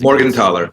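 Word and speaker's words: Morgenthaler: M with the last name that nobody can pronounce the the bar book which is all about techniques is uh I think is Morgan tler yes thank you Jeffrey Morgan tler yes yeah that that's I really enjoyed that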